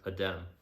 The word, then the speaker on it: Adem: Adem.